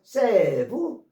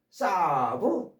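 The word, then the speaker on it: salve: 이 셀베이션은 셀브부터 L이 발음이 안 돼서 세브, 사브, 셀브.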